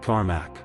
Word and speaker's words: Cormac: Pronounced Cormac.